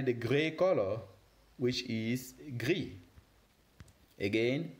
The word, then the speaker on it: gris: And finally, the gray color, which is gris. Again, gris. Very good. You were amazing. Now let's wrap it up again by re-pronouncing these different colors again, just to make